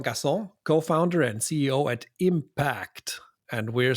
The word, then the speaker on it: Impaakt: saying this right absolutely it's just pronounce exactly as as impact the normal word we are just have